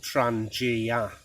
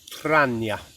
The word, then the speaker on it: Trangia: pronunciation and there was a guy from Sweden who insists it is called Trangia but other norsk people will pronounce it rania and I think both are correct depending on the dialect of where you come from I've actually cleaned my